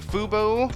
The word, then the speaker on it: Fuboo: in geek medium I have with me the fubo hello am I pronouncing that right yes yes you are uh